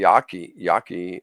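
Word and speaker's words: Yaqui: a reservation in Arizona the Yaki Yaki I believe that's how you pronounce it Yaky reservation but any R their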